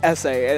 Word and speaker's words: Easy: it's spelled easy, but it's like essay. It used to be essay.